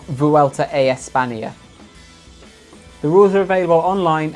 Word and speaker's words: Vuelta a España: So pronounce it correctly. It's derailla, not derailla. It's Vuelta a España, not Vuelta a España.